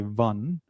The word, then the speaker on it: one: It's W. You make the bout W were. So, you do not pron your name is pronounced as V were but O N is pronounced as pout W. Welcome one. So with that this has got to be the W sound. W sound is not the vowel sound.